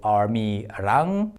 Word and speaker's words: 아미랑: 랑 here means with, so 아미랑 means with ARMY, and it rhymes really well with 아리랑.